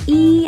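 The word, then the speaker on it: ㅣ: go left to right the last vowel is pronounced e as in b and then you just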